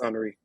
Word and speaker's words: Henri: People call me Henry all the time. But no, it's Henri.